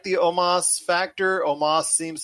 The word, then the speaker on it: Omos: Up next was AJ Styles and Omos, even though it's spelled Omos. It's Omos.